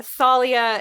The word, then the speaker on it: Thalia: sometimes I like it is it Talia or is it Thalia apparently Thalia is the more proper like Greek it's the yeah it's the I the Greek pronunciation also that's how Rick